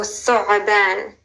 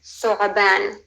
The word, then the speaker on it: Thu'ban: It starts with a th. Okay, th like thimble. Then th. Then ayn again. Thu'a. And I think this is why it's a little tricky. But again, if you can't quite pronounce the ayn, don't sweat it. Then you have ban, a b like Bob, then an a like Adam, and then a nun. So thu'ban.